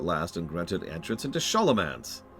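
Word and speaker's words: Scholomance: I have earned the chapter's favor at last and granted entrance into Sholomance. Yes, I know they pronounce it Schoolomance. You know I don't care. Today, my final ascent into glorious undeath begins.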